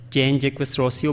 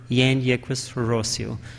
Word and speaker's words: Jean-Jacques Rousseau: It's dominantly called as Jean-Jacques Rousseau, but in French, J is not pronounced, so the original pronunciation of it is Jean-Jacques Rousseau.